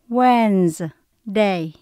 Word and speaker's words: Wednesday: Âm đầu tiên là when, sau đó có chữ S đọc là Z. Wednesday.